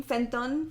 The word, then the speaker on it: Fenton: Yeah, just the way she pronounces Fenton's name, Fenton. Fenton, yeah. Like the hard like O.